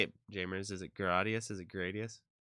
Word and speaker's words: Gradius: it jamers is it gradius is it gradius well the Japanese is like gadius so gra Gus prevented